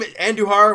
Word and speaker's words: Andujar: I mean this team Andujar when he pronounced his name I think I knew her I mean it's the